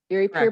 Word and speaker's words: Erie Pier: How secure is the, might mispronounce this, is it Erie Pier? Erie Pier Correct.